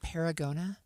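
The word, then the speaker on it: Paragonah: Is it Paragona?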